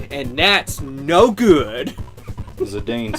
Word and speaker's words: Zidane: given Japanese phonetics and they always pronounce the e it is always pronounced it's never that talen